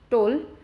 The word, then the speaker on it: toll: Then P O double L P all pole, T O double L T all toll.